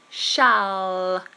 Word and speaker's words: shall: the word shall shall this dark L is a problem for many people when L appears at the end of a word the tongue tip must touch the roof of the mouth here shall shall shall and finish the word there um Oho I can't say